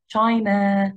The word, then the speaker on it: China: بسرعة جدا، ما قلتهاش China، no I said it China China China. So the stress is on the first syllable.